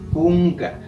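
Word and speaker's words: kunka: dice cuello enga ya cunga aquí si hay una variación la escritura es K u n k a con k sin embargo la última K sí se pronuncia como una G unga ya ahí está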